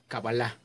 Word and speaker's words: Kabbalah: Ya en castellano se pronuncia cábala, tengo entendido que en el idioma original, es decir, en hebreo, e incluso algunos estudiosos como el Centro de la Cábala en México lo pronuncian la Kabbalah.